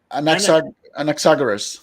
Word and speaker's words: Anaxagoras: How do you pronounce this? Anaxagoras.